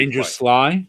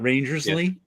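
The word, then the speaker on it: RangerSly: how to pronounce but his name is pronounced Ranger Sly. It's actually Ranger Sly, not Rangersley. No.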